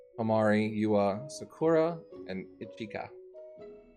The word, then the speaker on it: Ichika: you are sakura and ichika I'm probably saying the last one wrong you can correct me i-c-h-i-k-a um you said it right as well as uh